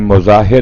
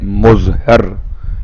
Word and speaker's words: مظاہر: خطیب کا نام ہے حبیب ابن مظاہر یا حبیب ابن مظہر یا مطاہر یا مطہر، اختلاف ہے آپ کے والد کے نام کے تلفظ میں.